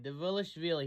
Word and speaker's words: Dvalishvili: Dvalishvili. He gets pissed when people don't say that right. Did I say it right, Merab? Dvalishvili. Dvalishvili.